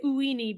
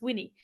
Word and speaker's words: Uini: I always say Uini, but it's Winnie.